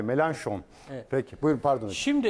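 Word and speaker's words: Mélenchon: Az önce dedim ya Jean luk melon dedim Jean L melanson diye okunuyor fatur yazmış Fransızca bilenler mi melan şon peki Buyurun Pardon hoc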